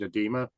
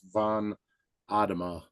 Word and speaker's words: Von Adema: that met my dad, they said Adema. So for my whole life, they pronounce it Adema. And one of the cool things about this generation is we get to correct a lot of mistakes from the past. So I finally, after moving here, I was like, you know what? All new people in my life, might as well start pronouncing my name right. So it's Von Adema, and that nice. means son of Adam.